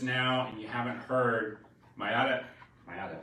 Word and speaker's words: Maiara: Hey guys, again, if you're jumping on just now and you haven't heard, Maiara, right?